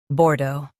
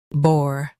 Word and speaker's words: Bordeaux: Both US and UK have the same pronunciation of this word, Bordeaux. Now read the syllables shown on the screen naturally. Bordeaux, Bordeaux. Stress the do syllable and keep bore light.